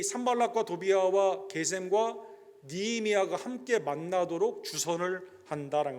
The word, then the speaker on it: 게셈: 그래서 이게 히브리 발음으로 하면 게셈이에요. 그래서 ESV나 요즘 마던 트랜슬레이션은 게셈으로 되어 있습니다.